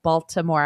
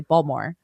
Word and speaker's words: Baltimore: We like I've just said Baltimore. I pronounce the T. But usually people just say Baltimore and they don't pronounce the Baltimore and you don't pronounce the T.